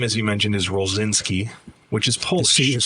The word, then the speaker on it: Rolczynski: Um, so my last name, as you mentioned, is Rosinski, which is Polish is silent. The C. Yeah. In Polish it would be Rochinski.